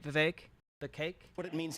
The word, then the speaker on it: Vivek: I wonder who's responsible for the wages remaining stagnant, Vivek. Rhymes with cake.